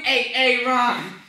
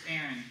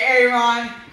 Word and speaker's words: Aaron: well you better be dead sick or mute a a ROM here why did you say it the first five times huh so it's pronounced Aaron go up and say it to my face hey Aaron say right here say right say right it's